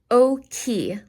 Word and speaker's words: occhi: Occhi, like okay, occhi, gli occhi.